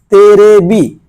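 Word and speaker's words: テレビ: দেখেন এগুলো হচ্ছে কাতাকানাতে লেখা আছে দেখেন তেবি তেরেবি তেরেবি মানে টেলিভিশন তেরেবি মানে টেলিভিশন একটা জিনিস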